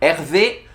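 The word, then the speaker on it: Hervé: 하지만 원어민 발음 으로 는 " 에르베 " 가 그 의 이름 입니다 .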